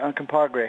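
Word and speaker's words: Uncompahgre: We pronounce it uncompagre. It's spelt weird, that's for sure.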